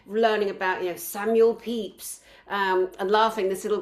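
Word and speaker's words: Pepys: we were seven and she called him Samuel Pepes because it's spelled that way pe e p ys of course we're trained no you pronounce it peeps and you know how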